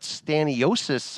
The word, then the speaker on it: Stanionis: It was Staniyonis. Is that how you say his name? Stanionis. I'm sorry that I was butchering it at times, even though he's my Lithuanian brethren.